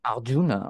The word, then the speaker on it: Arjuna: Fast richtig ausgesprochen, Arjuna. Arjuna, okay.